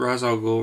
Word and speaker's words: Ra's al Ghul: call him Rach Rach yeah this is different Ra's al Ghul raesha yeah like even Liam Neeson in Batman